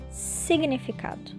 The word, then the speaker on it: significado: Significado. São 11 letras e um G mudo. Tinha tudo para dar errado. Mas funciona. Faz até ritmo.